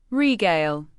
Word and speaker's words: regale: Regale. Pronounce it as r e g a l e where the second syllable rhymes with mail or sale.